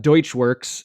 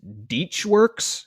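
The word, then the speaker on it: Deutschwerks: It's not Deutschworks, it's Dietschworks, DEAT. SCH works.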